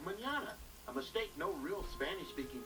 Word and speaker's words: mañana: It's a symbol you put over the end to change the pronunciation. Without it, the word would be said incorrectly as manana instead of mañana.